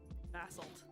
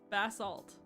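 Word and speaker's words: basalt: The British version is the soft A and the American version is the hard A.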